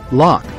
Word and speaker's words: Loch: Loch Ness is located Locke is pronounced as lock the word means Lake